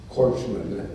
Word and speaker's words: corpsmen: There's no greater love than the Marines and their corpsmen, as that is pronounced.